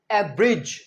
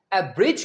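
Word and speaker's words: abridge: Third word है एवरेज। ए बी आर आई डी जी ई। इसमें हम डी प्रोनाउंस नहीं करेंगे। एवरेज का मतलब है संक्षेप करना मतलब छोटा करना।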